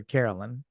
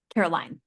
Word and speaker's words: Caroline: Is it Caroline or Carolyn? Caroline.